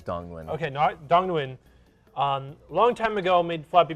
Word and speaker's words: Dong Nguyen: Is it Dang Nguyen? Is that how you pronounce the name?